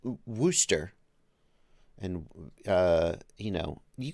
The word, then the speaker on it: Worcestershire: we're kestershar warcaster shire oh no no it's wooster worcestershire oh okay that makes